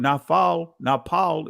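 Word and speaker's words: נפל: You know, so when we look at it, and again, as someone posted, the primitive root word napal is the ancient pronunciation of it, also means fallen.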